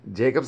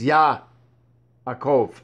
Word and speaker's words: Yaakov: But again, Jacob's not his name. There is no J. It's Yaakov.